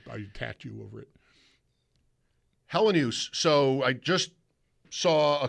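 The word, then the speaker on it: Helenius: Hellenius. Right. Kind of like no particular emphasis on any syllable, and I would say that it's 3 syllables.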